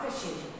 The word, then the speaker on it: phishing: Now, phishing. Phishing, this is word, it means خداع. Phishing, pay attention that we have PH like elephant, phishing, so we pronounce it F.